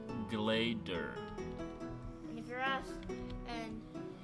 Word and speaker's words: Glaedr: Mine, Glader. Glader.